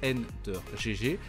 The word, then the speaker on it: Ender GG: il était OTP Garen son pseudo se prononce n de GG et il n'est chat